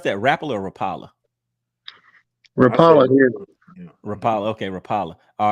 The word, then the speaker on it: Rapala: what what he got Rapala do you all pronounce that rapper or Rapala rapama okay Rapala all right and you said